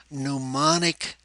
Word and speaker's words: mnemonic: seven is to use mnemonic techniques the M is silent in mnemonics it's simply an association